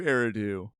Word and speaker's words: Eridu: Nope. It's not nude. No, it's new. Eridu.